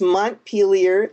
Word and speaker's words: Montpelier: title for one reason most people don't know how to pronounce it let me just set the record straight and say it's montpelier the capital of Vermont